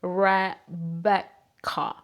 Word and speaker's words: Rebecca: Like, for example, my name is Rebeca en español. Rebeca, así como lo escuchan. Rebeca. But in English, they pronounce it like Rebecca, something like that.